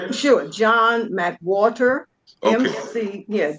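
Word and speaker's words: McWhorter: John McWater.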